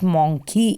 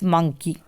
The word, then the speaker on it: monkey: Same goes with monkey. It's not monkey, it's monkey.